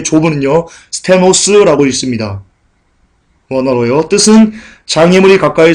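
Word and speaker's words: στενός: 여기서 좁은 문 할 때 좁은은요, 스테노스라고 읽습니다.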